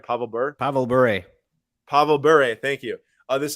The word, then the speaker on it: Pavel Bure: Pavel Bure.